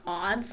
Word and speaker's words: aunts: god okay so like either pronunciation is okay ants are odds like i personally say ants but some people might say odds too oh all right so